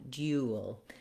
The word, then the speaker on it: duel: l duel like an like an american duel but here it's due duel so just make sure you have that gliding sound if that's tough for you and you're trying to use the british pronunciation start with the just the you you you'll duel so you can kind of think about that word you being contained in duel then when we look